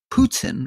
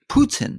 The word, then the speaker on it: Putin: help but tell him he's been saying putin wrong all his life it's putin not putin now in russian and then